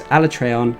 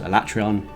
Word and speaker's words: Alatreon: turns a cool name yeah although apparently it's pronounced it was alatreon and then i got told off it was pronounced in that way so and i was told it was a latrion and anyway whole big hubbub trey and finally